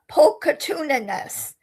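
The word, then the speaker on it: pulchritudinous: It's spelled p u l c h r i t u d i n o u s and you say it uh pocatiousness.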